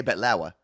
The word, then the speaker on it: baklava: But I would say, as a Middle Eastern person, we say betlawa.